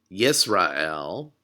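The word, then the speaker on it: ישראל: the Hebrew Bible so our first syllable is yees excuse me yeess and you'll see the schwa there underneath the sin so the letter that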